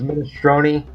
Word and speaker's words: minestrone: It's pronounced minestrone.